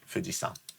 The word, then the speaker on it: Fujisan: Okay, Fujisan. Okay, because san is the other type of reading of Yama. Okay, it's not san as in Mr. Like Tanaka-san. It's Fujisan as in.